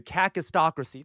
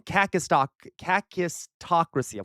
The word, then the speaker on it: kakistocracy: Kakistocracy. Why did I have trouble pronouncing that? And I even spelled it wrong. Kakistocracy.